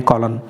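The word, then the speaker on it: column: निशान यहां पर इस हम लोग कहते हैं कॉलम और पड़ते हैं सेट ओके और एक जो बिल्डिंग में होता है वह कॉलम होता है यहां पर यह यौन साइलेंट है तो आप करेंगे प्रॉब्लम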